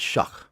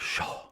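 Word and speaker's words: Shough: Well, they pronounce it Shuck, Yeah. but Shamwow. it looks like Shaw.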